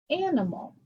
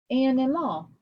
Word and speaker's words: animal: In the word animal, you would think closed syllable and, open syllable I, closed syllable mal. schwa, actually, animal, animal. But I don't say animal. It's an open syllable, but because it's followed by a consonant, we make it a short vowel sound. And ma. That's closed, but it's also a schwa.